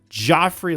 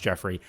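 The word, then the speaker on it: Geoffrey: This creates an interesting predicament here because y'all know I hate Joffrey Landgraab. And yes, I'm fully aware it's pronounced Jeffrey.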